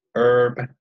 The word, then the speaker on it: herb: about even west coast herb h is silent and the east coast